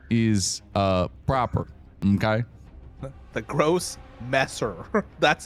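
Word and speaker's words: Grossmesser: The gross messer. That's how you pronounce it.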